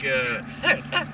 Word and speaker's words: Herre: It's pronounced like, Herre. Well, it's pronounced just the way I just said it, but it's spelled like hair with it's actually spelled like the Nelly.